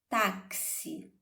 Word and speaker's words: táxi: formar esse que é nós sabemos que táxi se escreve t ax mas quando falamos o som desse x é pronunciado como como certo então é o ks nós vamos observar então